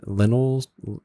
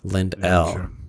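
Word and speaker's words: Lendl: lindell's last name wrong I probably said Lynn lentils lentils lentils something like that and his le in DL apostrophe s they said it's Lind L and that was lzv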